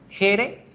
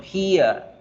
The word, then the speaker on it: here: con un diptongo como jere, ya no vamos a decirlo de aquí en adelante jere, sino here, here, here.